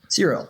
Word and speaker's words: Xero: Xero. It's like Siri, but with an O.